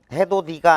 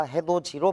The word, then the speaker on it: 해돋이: 해도 d라고 발음 안에 해도 d가 아니고 해도지 해도디가 아니라 해돋이로 발음을 해줄 것 디귿이 지읒으로 교체 굽이